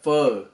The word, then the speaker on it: pho: be making a vietnamese food it's a spelus pho uh and it's pronounced uh fur so it's basically it's a vietnamese uh uh